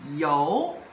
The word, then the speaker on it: 由: Now the second character it's like this and if in simplified character it's like this and it pronounce as yo yo means by.